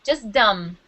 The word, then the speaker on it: dumb: We pronounce it with no B. Just dumb.